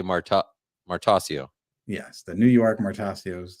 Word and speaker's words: Martoccio: How do you say it, by the way? I say Martoccio, but I actually I've never asked you. That's probably correct. Martoccio is what we say.